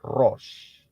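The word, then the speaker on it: ראש: Itu bunyinya, ya, pronunciation-nya atau pengucapannya adalah Rosh.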